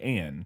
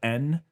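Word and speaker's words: Änne: And I looked it up and it says that's pronounced like an E sound kind of in English. an eh. Like an eh, so Anne I believe would be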